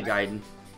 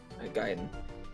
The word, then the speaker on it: Gaiden: I say Gaiden. Gaiden.